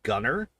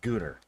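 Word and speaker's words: Gunnar: first and second movie in movie one he is called gunner in movie two he is called gonner uh so we're going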